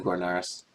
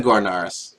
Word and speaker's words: Gornarus: starting with the gornaras that's not the corners that's the gornarrus corneris coronaris it's gorgeous